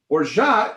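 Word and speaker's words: orgeat: to take my borja orja is a almond syrup it's a sweetener it's uh it's actually spelled like or grit or orgite but the french say or ja they say raja i say rojo now you will say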